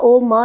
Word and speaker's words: ओम: क्योंकि ओम जो है वो 3 तरह की ध्वनि से मिलकर बना है, अ, ओ और म। लेकिन जब हम ओम का उच्चारण करते हैं तो अ, ओ, म नहीं बोलते, हम ओम ही बोलते हैं।